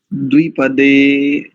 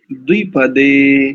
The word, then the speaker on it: द्विपदे: द्विपदे, द्विपदे क्योंकि ह्रस्व इकार है।